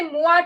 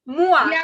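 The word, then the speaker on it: moi: ham also miss aliens in french me is moa so we will say moa today mua m-o-i i am always ready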